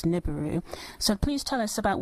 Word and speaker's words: Nibiru: well I guess nibu if we were to use the English dialect I guess the sounds phonetically would come up as niburu so please tell us